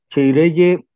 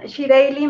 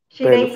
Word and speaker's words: Chireylle: Chireye o Chireyi. Bienvenida. ¿O cómo se pronuncia? Adelante, compañera. Hola Gustavo, buen día. Un saludo a toda tu audiencia. Es Shireili. Shireili.